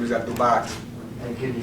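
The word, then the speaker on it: Abdul-Baaqee: My last name is Abdulbaki.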